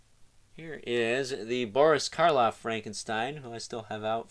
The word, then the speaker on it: Frankenstein: new ish dr frankenstein my name it's pronounced frankenstein right dr frankenstein next to